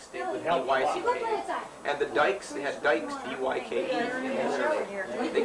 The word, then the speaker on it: Dyke: And everybody that had D-U-E-C-K pronounced it that way. And the Dicks stayed with D-Y-C-K. And the Dykes, they had Dykes, D-Y-K-E.